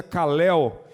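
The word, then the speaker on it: καλέω: Eu fiquei curioso de saber o que significava essa palavra, esse verbo chamou no grego, se pronuncia kalel, que significa chamar em alta voz, proferir em alta voz, convidar, chamar pelo nome.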